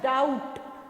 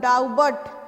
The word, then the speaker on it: doubt: उसके बाद डाउट, डाउट, डाउट, डाउबट, ब नहीं बोलते हैं, तो इसमें क्या साइलेंट है, बी साइलेंट है.